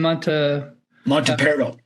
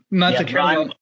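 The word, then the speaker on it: Montaperto: So if the Chinese were interested in I'm sorry, how do you pronounce his name? Monteperto. Monteperto.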